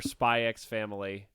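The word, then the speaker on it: Spy × Family: ] it's it's our spyx family yeah is the X silent in this or not no the the x is pronounced in this I'm just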